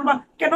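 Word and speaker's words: bouquet: লাত্থি মারো ঠিক আছে তাহলে নলেজ বা ইয়ে উচ্চারণ বা কেন লোডে কেন লোডে নাকি ঠিক আছে এই যে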